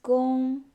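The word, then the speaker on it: 工: It's pronounced as gong, gong.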